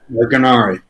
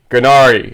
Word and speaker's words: Gurnari: Gurnari. Gurnari.